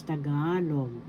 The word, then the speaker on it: Tagalog: By this time you should know how to pronounce tagalog. Tagalog. First syllable ta. Second syllable ga. Third syllable log.